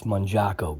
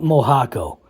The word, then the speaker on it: Mojarco: Uh yeah, it's Mjaco guy. Nam not Mojako. Mojako. Just kind of like you don't say you don't call a fajita fajita. You call it a faga because that's how it's spelled fajita.